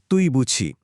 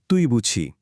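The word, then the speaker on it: 对不起: যার উচ্চারণ তুই বুঝি। এর সহজ মানে হলো আমি দুঃখিত। উচ্চারণটা আরেকবার মন দিয়ে শুনুন। তুই বুঝি।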